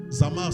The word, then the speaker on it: Zamar: Zamar, c'est comme comme ça se prononce Z a m a r y 4e